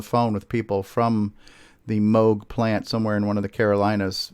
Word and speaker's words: Moog: is seldom known but it looks like it's pronounced Moog because there's two O's there but it's actually pronounced mogh correct yeah that's right it is in MO